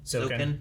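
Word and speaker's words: Zouken: Zoken, yeah.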